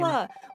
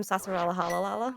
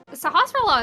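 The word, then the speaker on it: Sahasrahla: Sahasrara. When I was a kid, I called him Sasarala Halalala because I was just like, that's too many S's and L's, and I don't care anymore. Sahasrara is always an interesting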